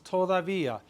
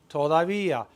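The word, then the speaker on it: todavía: but we've had it it's toava t o d a v i a toia there's an accent on the I toia I haven't eaten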